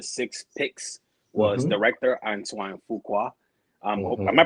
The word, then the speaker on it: Fuqua: So, a recap of my of the six picks was director Antoine Fuqua. Um, am I pronouncing his last name right to Yeah. Yeah. Fukua.